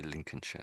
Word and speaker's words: Lincolnshire: But all of them are pronounced with this sh sort of an ending. Although it looks like shia, everywhere you see that on the end of a name, it's always pronounced sh derby. Colchester um Colchester um Lincolnshire. I say Lincolnshire.